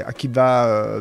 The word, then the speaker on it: Akiba: alors Akiba il s'est Akiba Ben Youssef qui va vous l'écrivez soit avec un V sur avec un B ça se prononce B Rabbi Akiba Youssef enfin